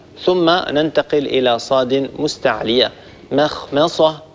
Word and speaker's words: مخمصة: مخمصة ولا نقول مخمصة، هذا من الأخطاء ننتبه إليه. لما الميم تجاور حرف مستعلي ننتبه لا نترك هذه الميم تتأثر بجارها الحرف المستعلي.